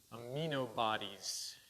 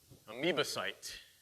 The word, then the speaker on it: amoebocyte: They have aminobodies. I'm not pronouncing it right. But those are the things that are used in research. Okay? Amoebocyte. I had it written down here so that I would remind myself to pronounce it right. I always have trouble with that.